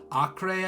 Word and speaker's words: Acre: different cities Damascus Jerusalem Oktay I think it's pronounced even though it's spelled how we'd say acre now there's a few